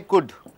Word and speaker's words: could: See certain things L in a word shouldn't be pronounced. For example what you see you take this c U L D. You don't say could you say could should right?